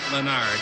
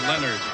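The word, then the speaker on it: Lenard: lakers basketball network enard is not menard it's leonard they say the nba pronunciation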